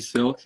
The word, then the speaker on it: Sylk: hq uh with augie silk is that what you say how do you say your last name silk yep so it's like the fabric over the y that is a dope